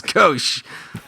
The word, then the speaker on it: gauche: is g-a-u-c-h-e gauche gauche it's kosh yeah that's probably good it's phonetically like what a it's like with somebody from finland with a lisp would say like when they score a goal in hockey like go shh do you